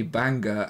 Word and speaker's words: Banger: my old teammates Nikki banga and Leroy whale had a tough decision to make Tuesday evening as that's normally my paddle tennis evening paddle paddle it's pronounced Banger not Banger right sorry um my